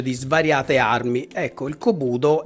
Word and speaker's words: Kobudo: Kobudo. Sì, ho pronunciato bene.